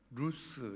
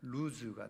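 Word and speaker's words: לוז: 그 원래 이름은 뭐였다고 루스 있니다 루스 그래서 히브리어로 루스인 영어로 그대로 발음하면 루즈가 되겠죠 자 그런데이 루스의 뜻이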